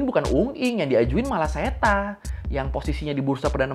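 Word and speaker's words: Srettha: Bapak ini namanya setatawisin tulisannya kalau di media-media tuh pada sereta ya Tapi bacanya setan Terus di media-media kita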